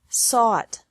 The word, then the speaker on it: sought: Seek, sought, sought. Teach, taught, taught. Think, thought, thought. Remember that the G is silent in these verbs.